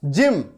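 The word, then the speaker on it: gym: ये देखिए जी के बाद वाई है जिम, क्या पढ़ रहे हैं जिम, गिम नहीं पढ़ते है ना। नॉर्मली क्या हो जाता है कि जी जो है वो ग उच्चारण करता है, ग साउंड आता है। लेकिन अगर जी के बाद EIY हो तो उच्चारण चेंज हो जाता है, साउंड चेंज हो जाता है।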